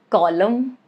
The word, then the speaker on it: column: Letter N rule is it is silent if it comes after M at the end of a word. That is the condition like in the word autumn or column or dam.